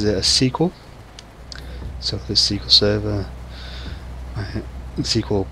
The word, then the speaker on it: SQL: structured way and almost everybody in the world pronounces it as sql so this sql server sql programming language excuse me t sql or microsoft sql servers and i once met someone who pronounced it as squel it took me a little while to figure